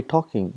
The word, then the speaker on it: talking: For example, in English we got, for example, talking, we say talking, but when you write, we write L, tall king, but we don't pronounce L.